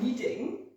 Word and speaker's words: kneading: that's what it means this kind of kneading it's spelt with a silent key where's your little